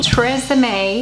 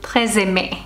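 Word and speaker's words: TRESemmé: The Tresemme. I think the actual pronunciation would be closer to Tresemme.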